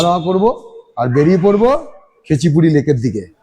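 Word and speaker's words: Khecheopalri: তো like comment and subscribe পৌঁছে গেছি কেচিপুরি লেকের সামনে এই গাড়ি লেকে ঢোকার আগে এরকম একটা পার্কিং আছে যেখানে গাড়িটাড়ি সব রাখতে হয় আর এই আমার সামনে এ হচ্ছে কেচিপুরি লেক যাওয়ার গেটচুয়ালি উচ্চারণটা খেচুপেরি খেচুপেরি খেচু পেরি লেক এ বড় কঠিন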